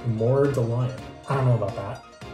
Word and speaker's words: Mordalion: smell like mallion or someone pointed out that I guess it's pronounced mallion let me see instead of mallion more the lion I don't know about